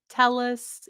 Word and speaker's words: Telles: He's going to say it both ways. We're going to talk about his testimony. I think Tea's is the correct way to say it. And then I think he allows people to say it the other way, or he's heard other people give testimony with it that way.